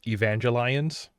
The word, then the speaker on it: Evangelion: Evangelion from Evangelion uh I think you'll find that it's pronounced Evangelion yep I was going